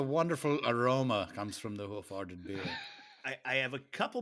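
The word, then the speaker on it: Hoof Hearted: been so careful from the very first time I saw it to pronounce it hoof-hearted.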